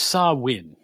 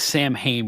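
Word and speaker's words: Samhain: It's pronounced saw win. It looks like Sam Hayne when you spell it's the name of the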